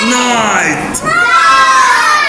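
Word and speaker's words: night: نا دا دا دا نايت وكلمه نايت الليل جي اتش سايلنت هكتبهم بس مش هنطق داي داي داي نايت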